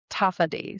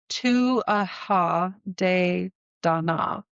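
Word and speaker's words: Tuatha Dé Danann: She's a prominent figure in Celtic mythology and one of the most revered deities in the Taffad. So again, I'm going to pronounce these so wrong.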